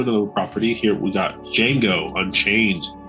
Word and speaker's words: Django: Here we got Django Unchained. The D is silent.